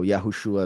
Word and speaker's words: Yahushua: So Yahushua is the true pronunciation.